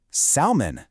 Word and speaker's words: salmon: Where's the silent letter hiding in the word salmon? Go ahead, take a second and say it out loud. Did you find it? And the answer is, it's the L.